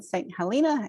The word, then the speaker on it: St. Helena: I have to make sure I'm pronouncing it right because you say it very differently in South Carolina than you do in California. One St. Helena and one St.